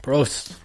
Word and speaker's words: Prost: Prost. I think that's how you say it. Yeah. Dang, in Germany. I like it. In German. Prost.